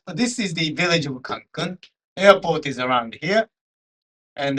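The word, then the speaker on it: Cancún: By the way, the pronunciation for the word Cancun, which is the name of this village, is with accent here. There is an accent mark.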